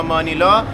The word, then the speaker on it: مانیلا: هستیم که پایتخت فیلیپین، مانیل یا مانیلا توی این جزیره قرار داره. البته تلفظ فارسی مانیل از فرانسوی اومده، بقیه دنیا بهش میگن مانیلا، واسه ما هم تو این ولاگ بیشتر بهش میگیم مانیلا.